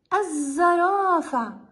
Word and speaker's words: الزرافة: إذن لنأتي إلى الكلمة الثانية، الزرافة. هل لفظت للتعريف في هذه الكلمة؟